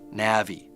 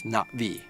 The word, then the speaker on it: Na'vi: So I I wrote, you know, I wrote it as NA apostrophe vi so that it wouldn't be Nav'vi or Na'vi. It's Na'vi.